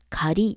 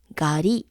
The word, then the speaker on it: 狩り: 仮と言います普通の読み方は仮ですでも他の名刺に接続するとガリと読みます例えばりんごに接続